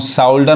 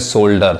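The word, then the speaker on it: shoulder: नहीं करेगा जैसे देखिए अब इसको हम साउडर नहीं कहेंगे या सूडरमा ए डी आईई आर अब यहां पर देखिए हालांकि इसमें ओ यू नहीं है लेकिन हमको इस वर्ड से रिलेटेड है इसलिए इसका बता रहे है ये पढ़ाए का सोल्जर इसको पढ़ेंगे सोल्डर सोल्डर मतलब क्या होता है कंधा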